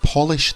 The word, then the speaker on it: Polish: trash and number four we must polish the Polish furniture polish to make something shine polish from Poland spell the same apart from the word polish should always have